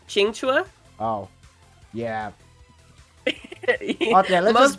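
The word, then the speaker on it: Qingque: Just to simplify it, but her name, I believe, is pronounced Qingchua.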